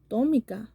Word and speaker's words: Tomicca: yellow from um Topeka Dominica Tomica oh wow I've been saying it wrong oh wow okay it reminds me of Tom and Jerry so anyways that is